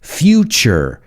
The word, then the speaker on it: future: But either way, it's nature, natural, future, statue. Remember, those words with TU, you got to pronounce it like ch-ch-cha.